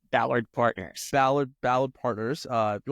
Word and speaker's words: Ballard Partners: currently so you are at um is it Ballard firm is that how you pronounce it yes it's called Ballard Partners Ballard Ballard Partners uh you want to tell